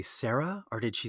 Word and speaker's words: Sayre: It's an English family name, and yeah, it's just one syllable. Oh, okay, Sarah.